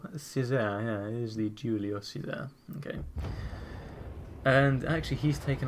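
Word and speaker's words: Giulio Cesare: How do you actually pronounce that? Julio Cesar. Yeah, it is the Julio Cesar.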